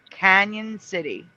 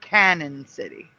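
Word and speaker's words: Cañon City: However, it is pronounced Canyon City, not Canon City.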